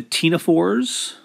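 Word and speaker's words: ctenophores: The tenophores, I know there's a C in cnidarian and tenophore, but you don't pronounce the C.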